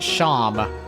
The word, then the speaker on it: Seam: The name Seam pronounced Sham.